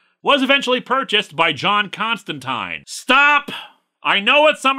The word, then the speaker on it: Constantine: say it is pronounced Constantine they even put it in the comic itself that it's Constantine rhymes with wine and people were very